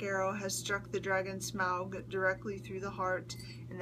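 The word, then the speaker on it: Smaug: that the black Arrow has struck the dragon smog directly through the heart and that is how it's pronounced um and brought it down and brought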